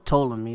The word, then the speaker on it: Ptolemy: Just put Ptolemy, or Ptolemy, that's how you pronounce it, yeah.